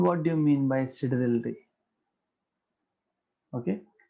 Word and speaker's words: sidereal: अभी ये देखो क्या है, pronunciation depends on region to region, so I call it a sidereal, okay, because this is how it is pronounced in astronomy anyways.